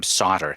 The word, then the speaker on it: Sautter: to weave that into her story. Cool. Anyway. So we can hear some of that first part of my interview with Sia Sauter, Sautter. That's how you spell her last name, Sautter.